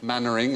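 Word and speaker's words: Mainwaring: Did you know that was pronounced? No, I didn't know that at all. Chumley. Chumley, the second one. Barclay. Barclay. Mannering, as in Mannering. Captain Mannering, I and don't know, Dave.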